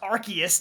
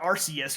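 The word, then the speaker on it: Arceus: This is probably somebody who's like uh it's pronounced archus, not arus or something like that.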